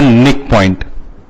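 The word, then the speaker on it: knickpoint: Such a point is known as a nick point. Or it is also known as simply NICK, nick point or nick. K is silent here, it is known as NICK or KNICK, whatever, what is a nick point.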